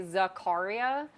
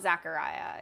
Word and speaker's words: Zaccaria: to oh yes um when I've heard industry folks pronounce it the company Zakaria they say Zakaria so it's not Zachariah it's Zakaria I have been back